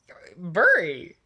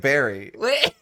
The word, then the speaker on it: bury: you said burying burying like you don't bury something of the ground you bury something in the ground bury but you say it like Barry I don't believe you